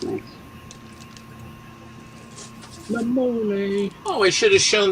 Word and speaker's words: La Mole: La Mole, but there's no accent on the E. It's the mole.